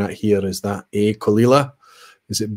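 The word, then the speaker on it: Caol Ila: me about pronunciation and they talked about how kalila was kul and indeed it as but that's if you've seen it fast if you were to take your time to pronounce it that would be qaol qaol laterally how it's written but if you say it fast it's called kalila yes you knowledgeable folks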